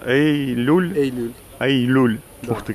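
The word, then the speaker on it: Eylül: Эй-Люль? Эй-Люль. Эй-Люль. Да. Ух ты, как интересно. Ну, я выучу следующий раз. Ну, это как июль ваша.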